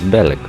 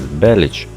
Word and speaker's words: Bellic: By the way, it is not clear why his surname is pronounced as Bellic, although in the Serbian version it will be pronounced precisely as Belic.